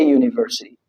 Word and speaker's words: university: There's no exceptions because university, you know that university starts with a consonant.